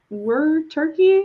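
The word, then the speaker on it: wereturkey: So, yes, it was were turkey, like where turkey, like werewolf, but a turkey.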